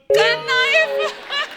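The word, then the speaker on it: knife: मैं चाकू को भी कनाइफ बोलता हूं। नाइफ। कनाइफ नहीं होता। नाइफ होता है। केस साइलेंट रहता है।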